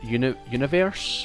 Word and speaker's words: Univers: The font apparently is called Universe, which is spelled UNIVERS.